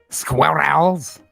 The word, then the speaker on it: squirrel: Squirrels. Squirrel. Yeah. Or just squirrel. It's just one syllable.